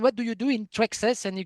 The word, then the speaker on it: Thraxas!: And we have I don't I hope the pronunciation is good. Traxxas uh with an exclamation mark. Traxxas. Traxxas.